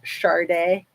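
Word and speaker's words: Sade: because it's like s a d but it's pronounced Sharde she's awesome she was a big star in the 90s I'm sure a lot of you guys remember Shard day um wait say whatever we want Mr Mark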